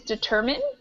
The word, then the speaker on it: determine: how we pronounce it we pronounce it like a short I determine and this one